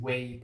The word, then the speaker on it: whey: Use whey protein. What's that? Oats and whey. Oh no. Oh, wait. Whey. Is that how it's pronounced? WHEY. Yeah. Yeah, protein pronounced weight.